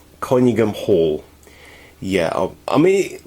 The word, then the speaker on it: Conyngham Hall: Its loco's number is 6937 and it's called, I'm probably going to mispronounce it horribly, Conyngham Hall. Conyngham Hall.